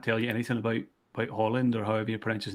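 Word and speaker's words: Haaland: million Euros for um Holland not not Harland Holland but I hope I'm pronouncing it right but um yeah so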